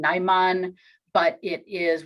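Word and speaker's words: Najman: with a place where the contribution is naiman n-a-j-m-a-n what we know about seems to be a place that's about 30 kilometers away in Cyrillic characters same pronunciation naiman but it is right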